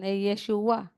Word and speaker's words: Yeshua: Joshua parang English pronce lang pero p Hebrew pronunciation Yeshua itong Isaiah Short term lang siya ng Yes